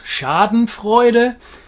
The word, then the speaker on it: Schadenfreude: into the brand names this one's difficult for me to pronounce in english but i'll give it a go schadenfreude the german being of course schadenfreude the meaning is exactly